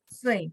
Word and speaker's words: 岁: 岁， Sui, 很好, Sui. nada 4.